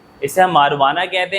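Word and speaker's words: marijuana: इसे देखो लिखा हुआ है मारीजुआना, लेकिन इसे हम मारुआना पढ़ते हैं। क्या पढ़ते हैं? मारुआना। मारीजुआना नहीं, मारुआना पढ़ते हैं। जे जो है वो साइलेंट होता है।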